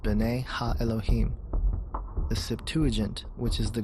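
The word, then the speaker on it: בְּנֵי הָאֱלֹהִים: of God mentioned here in the Hebrew is pronounced Bena Elohim the Septuagint which is the Greek translation of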